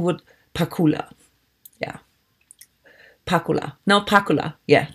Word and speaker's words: Pakula: up well if it is German then the pronunciation would Pakula yeah Pakula no piccola yeah that's I think